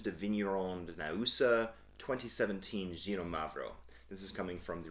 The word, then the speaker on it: Xinomavro: It starts with an X, but it's pronounced like Ksee, Xinomavro.